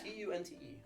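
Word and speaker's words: Tünte: Tunte with an umlaut, because I'm fancy and I hate myself when I type it.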